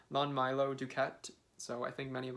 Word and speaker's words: Lon Milo DuQuette: a new introduction by lawn meal i always mispronounced his name lon milo duquette so i think many